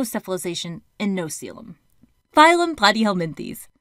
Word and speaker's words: Platyhelminthes: Phylum Platyhelminthes. I like to think plat rhymes with flat.